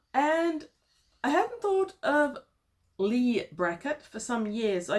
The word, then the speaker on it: Leigh: the long tomorrow by lay bracket only not it's Lee bracket I've been pronouncing it